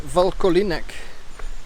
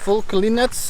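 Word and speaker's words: Vlkolínec: So I just met some people, and apparently it's pronounced Vlkolinec or something like that, not even sure.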